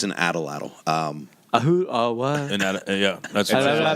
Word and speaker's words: atlatl: The proper spelling is ATLATL, So I say atlatl.